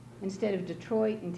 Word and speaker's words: Detroit: and we say it because English is a Germanic language. It came from the Anglo-Saxon times, and in German you emphasize the first syllable of the word. So we say Tennessee and Detroit because that's the accepted way.